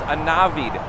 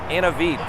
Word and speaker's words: Anav: And oh, by the way, just real quick, my name is pronounced Anav, not Anavit.